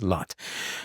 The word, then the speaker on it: Lot: And his name is pronounced lut in Arabic and lot in Hebrew. And of course, the English renders it as lot.